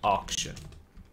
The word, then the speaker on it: auction: 这个字补充一下下，auction，所以 C 是有发音的